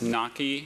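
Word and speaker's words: gnocchi: I'm saying it right. It's naki.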